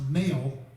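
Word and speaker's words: Mehl: you can't go wrong rob m-e-h-l it's actually pronounced male but we we've all been mispronouncing his name for years and rob's just been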